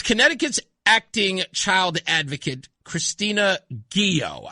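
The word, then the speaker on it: Ghio: child advocate Christina Guio and I hope I'm pronouncing her name right. I haven't had a chance to meet her yet or to talk to her, but I think it's Guio. G H IO.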